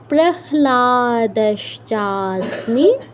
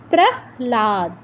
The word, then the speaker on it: প্রহ্লাদ: নিয়মটা এখানে খাটবে না তো আমাদের লটাই আগে উচ্চারণ হবে সরি হ টাই আগে উচ্চারণ হবে এখানে প্রহ্লাদ হবে না প্রহ্লাদ হবে ঠিক আছে হয় হসন্ত ল ল এর সাথে আকার প্রহ্লাদ প্রহ্লাদশ্চাস্মি প্রহ্লাদশ্চাস্মি দৈত্যনাং দৈত